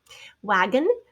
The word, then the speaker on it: wagon: leave the ing there wagon wagon wag on is how it's spelled but of course the o is a schwa sound tongue hopefully you remember